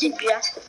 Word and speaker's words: Geoff: G's sometimes pronounced like J, because you know, G, J. I know that part, but like. You and know. The O is silent.